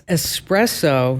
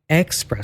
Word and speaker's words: espresso: Barry says um okay it's espresso not espresso oh that one hurts